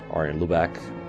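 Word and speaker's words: Arjen Lubach: a Dutch TV show his name is Ariane Luba or are in blue back if you prefer the English pronunciation pronunciation and it basically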